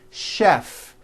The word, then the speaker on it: chef: even more more difficult there are a couple of words that are spelled with ch and are also pronounced with the sh sound words like chef and the City of Chicago okay having said that